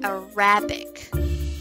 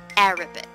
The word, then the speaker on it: Arabic: is the incorrect way so it's wrong to say a rabbit okay now what's the correct one thing well the correct way of pronouncing this word is Arabic again Arabic very good so the stress is on the first syllable let's try to use